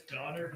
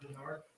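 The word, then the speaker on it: Donnard: last name uh it's donard d o n n a r d and last name J N all right thank you it's it's donard not Berard donard I need to apologize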